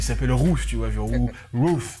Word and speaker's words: Routh: Non, déjà, excuse-moi, mais le type, il s'appelle Routh, tu vois, genre, Routh. Le mec, on prononce son nom, on dirait qu'on aboie. Routh.